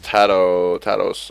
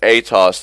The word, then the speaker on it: Atos: for the Rod of Tados, I believe. Yeah. He's going to go for a Rod. Yep, there it is. Rod of Atos, there we go. That's the correct pronunciation, the correct item.